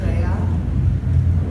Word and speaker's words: Rhea: And a standard ancient Greek pronunciation for that name would be Rhea, like the H in there.